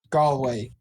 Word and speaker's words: Galway: Galloway hey you actually said it right yes Galway yes it's the name of an actual town